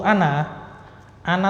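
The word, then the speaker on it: أنا: Untuk ana tuh memang ada alifnya. penulisannya. Ana, kan ada alifnya itu. Cuman bacanya tidak panjang, pendek. Ana gitu aja.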